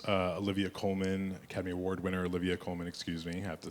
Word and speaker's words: Olivia Colman: You work with some amazing actors, Olivia Colman, Academy Award winner Olivia Colman, excuse me, I have to say it correctly, as well as Jessie Buckley, Peter Sarsgaard, Ed Harris.